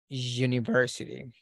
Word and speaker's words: university: we have a consonant the pronunciation if you go to a dictionary and you look for the IPA transcription or The Fanatic it will show you something like this and the pronunciation of this one is you ah so it is not a vowel it is a consonant so we say da